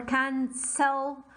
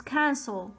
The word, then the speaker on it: cancel: not saying list 10 or can sell it's cancel okay i'm not stressing on the second syllable so i do not